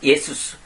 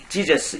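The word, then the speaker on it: Ἰησοῦς: 그리스도가 예수님이 이제 남자니까 영어에서는 그냥 그걸 빼버리고, 크리스트 지저스, 이렇게, 예수스. 지저스가 아니라 예수스입니다. 원래 발음은 정확한 것은. 원래는 지저스가 아닙니다. 예수스가 정확한 말입니다.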